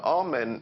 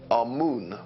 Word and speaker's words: Amun: Now, Amen is the pronunciation that the Hebrews give it, and some scholars agree to use that pronunciation. Amun is the pronunciation given to it by one of the old European scholars, Plutarch.